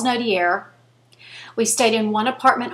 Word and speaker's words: Nodier: street is called Charles Nodier. Now I'm saying it like it's spelled. That's not how you say it, but it's Charles Nodier.